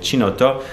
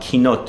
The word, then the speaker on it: chinotto: mentioned this one and I was calling it chinotto well I was corrected it's called keynote oh and I'm sorry